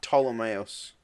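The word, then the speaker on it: Ptolemaios: Ptolemaeus. Yeah, the P is silent.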